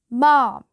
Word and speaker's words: ma'am: "Ma'am, not ma'am. It rhymes with ham or jam."